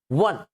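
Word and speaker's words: one: वन begins with W नॉट ओ। यानी यह ओ जो है इसका उच्चारण अ होना चाहिए। ठीक है? लेकिन जब उच्चारण करते हैं तो वो डब्ल्यू यानी व से स्टार्ट स्टार्ट होता है।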